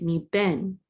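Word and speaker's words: מִבֶּן: So this is a mem with a yud, mem with a chirik. This is me. And then a bet with a segol and the nun sofit says ben, mi ben.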